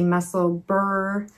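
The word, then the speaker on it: Musselburgh: so this is the muscleburg hat i'm going to say berg there's a big knitter's uh split right now on how you pronounce this some say muscle burp some say muscle burr um but we all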